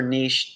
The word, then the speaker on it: niche: not being addressed or niche take your pick niche niche i like niche it rhymes with rich but you um when